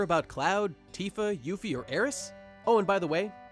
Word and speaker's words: Aeris: In Japanese, Aeris' name is written Earisu, or Earisu. See that character there? That's the Su kana. And when you pronounce this character in Japanese, there's a tendency to drop the U sound at the end, in this case giving Aeris.